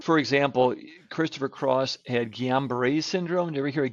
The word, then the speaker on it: Guillain-Barré: Like I always thought it was like Julian Barr or Gillian Barr. Is it the same thing? Just set, I just Correct, say it wrong. Guillain-Barré.